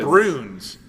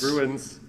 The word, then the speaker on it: Bruins: u i n Bruins you said Bruns St be Bruins Bruins Bruins it's to okay let me tell you Illinois Valley pronounces things how they want you and specifically the Howen family you just you just insulted all the Bears by mispronouncing there Bruins Bruins St be Bruins